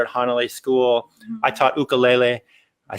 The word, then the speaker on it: ukulele: I taught ukulele. I said it right, ukulele. You know, you said it right, because now I know how to say it. Well, yeah, you got to add the emphasis in lele.